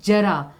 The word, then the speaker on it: जरा: तो आप देखो जरा, अब यहाँ पे सिर्फ एक नुक्ता ना लगाने से, एक बिंदी ना लगाने से दोनों के अर्थ में बदलाव आ गया।